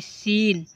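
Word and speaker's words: scene: अब देखिए एस सी ई एन ई सीन सीन क्या होगा? सीन देखो एस के बाद सी है इसलिए सी को साइलेंट कर दिया गया।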